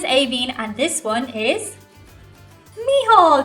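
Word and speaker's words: Mícheál: and this one is miall did you say Michael no we have our own pronunciation you see so a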